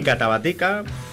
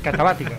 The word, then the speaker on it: Katabätika: Ni Catabática. Es Catabática. Catabática. Como metálica.